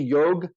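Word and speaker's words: योग: the ASA for me most of the words with the a after the end of the aspirated a is a British British affectation of when they colonialized India which they kind of Miss they change everything around so it's actually yog it's actually Karm not karma dharm not Dharma some words do have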